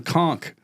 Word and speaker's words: conch: And then they were calling them conchk. And I'm like conchk. H. Yeah. Cuz it's the spelling is a little misleading. Yeah. It's spelled like conch.